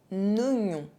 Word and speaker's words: oignon: There is one exception, un oignon, un oignon.